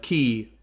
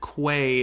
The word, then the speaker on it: Quay: to be going into crem quay or uh ki or kwai there's a lot of alternate pronunciations for uh the word i think that quay is uh the most common of them and it's the one that i'm going to be going with because i i think